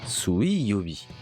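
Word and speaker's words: 水曜日: Et pour le mercredi, on le prononce Suiyobi. Mercredi.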